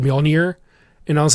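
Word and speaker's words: Mjölnir: I had a co-orker correct me on the pronunciation of Molir, and he's like, Molir. No, he was like, actually, it's Molner. and you said Mjolnir and I was like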